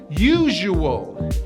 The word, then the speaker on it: usual: add voicing and then the last syllable has a hidden w between the u and the a and we pronounce this